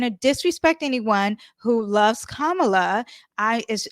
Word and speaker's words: Kamala: okay after I do kamla and I have to say her name like that so I can make sure I say it correctly I have a college